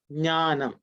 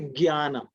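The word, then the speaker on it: ज्ञानम्: Some people say gyanam. Some people, okay, some people may say jnanam, jya, gya are sometimes a pronunciation which have come up in various regional languages in India, and because of that sometimes it is confused. Okay, but the right pronunciation is ij and nya.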